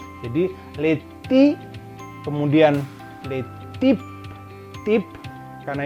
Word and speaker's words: types: Kemudian type ini karena Y di bahasa Prancis itu bunyinya adalah I, sama dengan huruf I gitu. Jadi les types, kemudian les types, type karena ini E tanpa adanya aksen, ya.